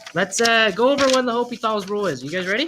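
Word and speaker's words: L'Hôpital: the H is silent.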